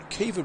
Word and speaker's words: Kiva: sports as well, but Kiva Bray. Yep. It doesn't look like it's, if you'd say it, Kiva, but it's Kiva Bray. That's how you pronounce it, yep, Irish.